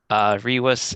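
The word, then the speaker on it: rivus: Can you spell that? R-I-V-U-S. Can you say the spelling again? R-I-V-U-S. Rewis is correct.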